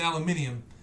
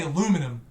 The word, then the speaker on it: aluminium: you can see that there's two I's in aluminium, and then you'll turn around and say aluminum, and then you'll go on radio, and I'm sorry I'm saying you're, I know.